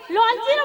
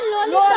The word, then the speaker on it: ললিতা: ও তোমার ললচিরা সখী ললচিরা বলছো কেন আহ উচ্চারণ হচ্ছে না ওর নাম ললিতা ললিতা ললিতা ললিতা ও কোথায়